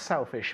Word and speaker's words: selfish: selfish selfish yeah again so the first sound you produce has to be with the tongue touching these lower teeth selfish silvados selfish selfish